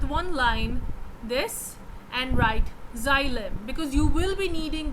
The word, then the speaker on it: xylem: I will pronounce it for you. XYLEM, xylem.